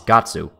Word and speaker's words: Guts: The Japanese name for Guts is Gatsu, but that's not how you say his name in English.